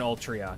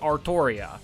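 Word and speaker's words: Artoria: No the it hasn't. You want to know how I know it hasn't? Because there's no toe. Artria. Arttoria. Arttoria. Everyone pronounces it Arttoria. Literally everybody pronounces it Arttoria. If it was Ultria, you would because the Japanese do have that in their language where they they'll say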